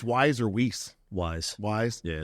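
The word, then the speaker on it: Weis: don't know if it's wise or whis Wise Wise yeah it's wise yeah my was like it's spelled whis though it is spelled whis but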